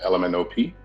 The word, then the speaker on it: Ellemnop.art: I work as a gallery curator in Baton Rouge, one half of an organization called Ellemnop.art, which is pronounced like the alphabet.